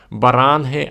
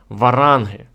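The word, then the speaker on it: Βάραγγοι: слово варях з рецької Це слово пишеться як варангої А читається як баранги або варанги значення слова варанг або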